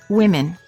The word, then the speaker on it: women: Also, in the word women, the O is pronounced as I, women.